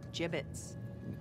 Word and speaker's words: gibbets: hey look avery had some gibbots left over gibbets what it's pronounced gibbets are you sure yeah well no one likes